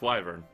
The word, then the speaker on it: wyvern: in and Byron yeah it's pronounced wyvern just so you know it's my dialect though no friends from an